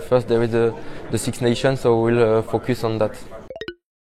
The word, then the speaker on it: Six Nations: him talk about the six nation of course this is a plural we should make sure that we pronounce that s six nations and he talked also